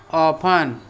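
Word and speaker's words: often: हाउ ऑफन, हाउ ऑफन, वो यहाँ पर ऐप साइलेंट हो जाता है, ये मालूम है ना। ऑफन में ऐप साइलेंट हो जाता है, कितनी बार।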